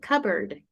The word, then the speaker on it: cupboard: how do you like you don't pronounce the P yeah and it's like upward cupboard cupboard ah it's covered bird like Ka and then like if it was bird cupboard yeah it's maybe with